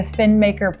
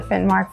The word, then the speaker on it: Finnmark: Well, how do you feel when I say the phrase, The Finmaker Plateau. Oh, the Finnmark Plateau. Oh, I didn't say it right. Excuse me, it's the Finnmark?